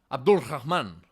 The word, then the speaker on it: Abd al-Rahman: Quick note here, his name is pronounced as Abdul Rahman, but I will pronounce it in the Spanish way, Abderrahman.